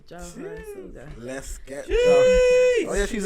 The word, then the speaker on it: Jawhara: Like my name is Jawhara, but throughout my whole school life, I've been referred to as Jawhara because they can't pronounce my name. My whole name, no one has ever been able to pronounce it. They struggle with that W so bad. They just decided to cut it out completely.